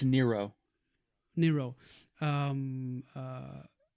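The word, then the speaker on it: Nyro: Yeah, it's a cover I think it's a drawn cover of Laura uh how do you say Nero Nairo? It's Nero.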